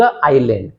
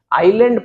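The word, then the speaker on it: island: तो we sailed to द आइसलैंड। आइलैंड पढ़िएगा इसे। ये आइसलैंड नहीं है। एस इसमें साइलेंट है।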